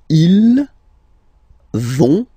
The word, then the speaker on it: ils vont: So, ils vont, final T, not pronounced.